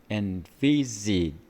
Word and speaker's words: envisage: 그 다음 envisage, 이 V도 없는 발음이고요. E도 사실은 우리말에는 없는 발음입니다. 그 다음 이 Z도 없는 발음입니다. 그 다음에 G도 없는 발음입니다. 그래서 너무너무도 복잡하고 힘든 발음 체계입니다.